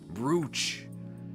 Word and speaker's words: brooch: Broach should be pronounced with the O sound, I fear. Brooch.